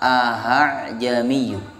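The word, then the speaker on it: أَأَعْجَمِيٌّ: Jadi ada 2 hamzah. Hamzah yang pertama dibaca seperti biasa, ya. Hamzah yang kedua dibaca ringan. Jadi hamzahnya nggak jelas. Yang kedua, saking ringannya sampai nggak jelas, ya, samar.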